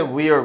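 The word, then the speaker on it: were: 요거는 문재인이 과거지 이거를 웨어라고 읽는 놈 손 들어봐 없지 where 아니야 위화 아니고 이렇게 써있을 때 wer go 이거는 일단 w가 나오면 이불 앞으로 똥그랗게 내밀고 소리를 내야 돼 휴가 때 방학 때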